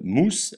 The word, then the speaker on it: mus: ornitorinque exemple Aquila l'aigle S se prononce ce comme dans serpent jamais ze comme dans oiseau exemple mousse la souris u se prononce